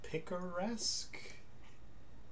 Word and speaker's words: Picaresque: And I don't know how to pronounce this title. Picaresque?